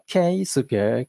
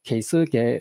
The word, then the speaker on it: Keisuke: You can put accent anywhere in my name, as you like. Keisuke, Keisuke, or Keisuke.